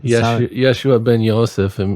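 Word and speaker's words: ישוע בן יוסף: yosef i'm not familiar let's say that again yeshua ben yosef that's the hebrew way to say his name what it translates to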